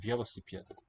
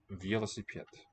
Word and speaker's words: велосипед: Есть велосипед. Велосипед. And it will be pet in that last syllable.